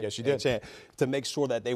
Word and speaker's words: Achane: I believe they did a better job of holding Mostert, holding Achane. Did I pronounce that right? Yes, you did. Achane, to make sure that they weren't able to get too much explosion on them.